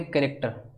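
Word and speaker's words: character: sound आ रहा है लेकिन ऑप्शन सी में सीच से क का साउंड आ रहा है कैरेक्टर तो डिफरेंट साउंड होगा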